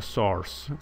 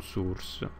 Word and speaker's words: Source: con la lettera s si pronuncia Source con la aperta non è un Source l'altro terminale Source vuol